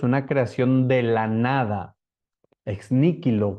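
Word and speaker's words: ex nihilo: creación de la nada ex níquel con una H donde suena exilo ex níquel se dice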